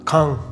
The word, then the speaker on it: Caen: Antes que nada yo voy a decir caen en este vídeo, pero la pronunciación en francés es muy distinta. Es algo parecido a K.